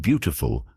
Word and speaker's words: beautiful: In the word beautiful, the stress is on the first syllable.